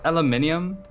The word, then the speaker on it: aluminium: I was saying that aluminium is how it's pronounced globally, and it's aluminum for Americans.